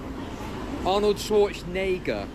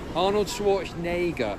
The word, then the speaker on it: Arnold Schwarzenegger: Arnold Schwarzenegger. Arnold Schwarzenegger. Say it with me. Arnold Schwarzenegger, Arnold Schwarzenegger, Arnold Schwarzenegger, Arnold Schwarzenegger, okay?